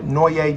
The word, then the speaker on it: Knowe: I'm Noye. That's pronounced No-Ye.